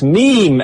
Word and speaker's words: meme: Meme, AC. Pronounced meme. You're killing me, he says. Mame. It's mame. Not mame. Mame. Mame is what I will do when you don't pronounce it meme.